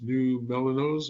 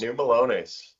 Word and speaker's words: New Melones: pronounce that other place, New Melanos or Yeah, Melones? New Melones.